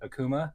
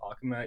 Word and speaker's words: Akuma: Uh, I know that a lot of people call it Akuma because of Street Fighter, but I think that Akuma is the Japanese pronunciation of the word, which is where I